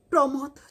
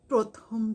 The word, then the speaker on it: প্রমথ: প্রমথ চৌধুরীকে তুমি বলতে প্রথম চৌধুরী।